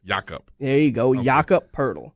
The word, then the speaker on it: Jakob Poeltl: Jakob Poeltl. Say it with me now. Jakob. Jakob. Jeez. Think of saying Jacob, except with Jakob. There you go. Okay. Jakob Poeltl. Don't overemphasize Poeltl.